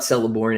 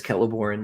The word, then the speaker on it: Celeborn: pronunciation and things right it's not celeborn it's Keller born the Seas never the Seas never make S sounds you know but uh